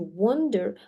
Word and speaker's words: wander: Under no circumstances, ни при каких обстоятельствах, should you wonder, а мы помним, что вот это A читается как O.